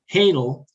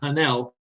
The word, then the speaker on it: Hahnel: just not care well most people pronounce my name hanel but since it's my name I say but those of us who have that last name we actually pronounce it hannel there's a controversy that